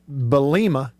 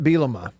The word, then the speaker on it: Bielema: has been called bret belima you'd be a rich man everybody sees his name and pronounces it they put the emphasis on the wrong syllable every time hey bill you know